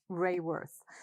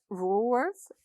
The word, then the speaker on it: Raworth: you tell us that your surname is to be pronounced ray worth i must admit that i've said rule worth quite a few times when i've been speaking